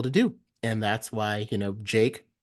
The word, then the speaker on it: JVKE: And that's why, Jake, an artist who came by, it's spelled like JVKE.